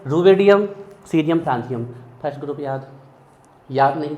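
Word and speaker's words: caesium: कई लोग इसको कैल्शियम पढ़ते हैं, गलत है वो, बोल दो, हमें कोई फर्क नहीं पड़ता, सिंबल याद होना चाहिए।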